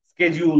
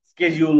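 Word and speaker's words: schedule: বলিশিডিউলশিডিউল এটা মানে ভুল প্রোনান্সিয়েশন আমরাশিডিউল বলতে পারি স্কেজিউল বলতে পারিশিডিউল বলতে পারি স্কেজিউল বলতে পারি মানে এটা কখনো স হয় কখনো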